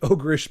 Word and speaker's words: ogreish: Ogreish seems like the formal way to say it or pronounce it, or to spell it, but people would pronounce it ogre-ish.